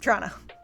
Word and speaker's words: Toronto: Toronto. And if you want to say Toronto, it's T apostrophe R N A. Trana, capital of Ontario.